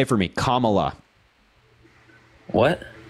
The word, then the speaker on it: Kamala: say it for me Kamala what say you're mispronouncing her name it's Kamala Kamala comma like a comma in a sentence yeah say comma say